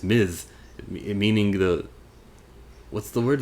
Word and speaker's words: Ms. Marvel: one gets it right they call her miss marvel instead of ms marvel there's a clear difference one is this is